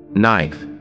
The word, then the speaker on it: knife: Knife, here K is silent.